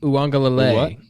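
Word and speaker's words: Uiagalelei: Uwangalele.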